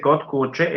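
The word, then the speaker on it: kod kuće: Cuando un croata dice kotkuche, en realidad está pronunciando una T en Una lugar T, de la claro. D. Muy bien ahí, me gustó. Agreguen ese como ejemplo en que no se ve reflejado en la grafía este mismo fenómeno. Muy bien. Un croata pronuncia una T ahí, no una D.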